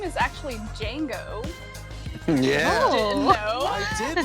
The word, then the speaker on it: Django: His name is actually Django. Yeah. Didn't know. I did know that. I just forgot. Is the D silent? The D is silent.